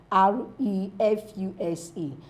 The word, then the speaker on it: refuse: f u s e the verb is what refuse refuse that's Zed I refuse to do it why the now form us of r e f u s is what refuse refuse refuse what you dispose when you